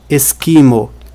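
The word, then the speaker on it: eskimo: Se a sílaba tônica não caísse no i, mas caísse no e, a pronúncia seria esquimo. Se fosse no o, seria esquimô. Mas não é nem esquimo, nem esquimô. É esquimo.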